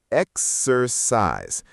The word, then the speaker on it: exercise: Exercise. The C sounds like an S. Exercise.